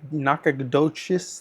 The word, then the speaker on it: Nacogdoches: People, they've come from Austin, they come from Corpus Christi, they come from Beaumont, they come from Nacogdoches, that's how you pronounce it.